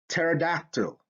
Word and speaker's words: pterodactyl: Pterodactyl. Here you have the PT, okay, and that becomes a T sound.